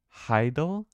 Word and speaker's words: hadal: From French Hadal, it comes from Greek Hades plus all, which means it's not loading. It's pronounced Heidel.